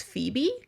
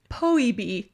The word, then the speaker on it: Phoebe: I know that PH is a F sound. But for some reason in my head, I pronounced it Poebe.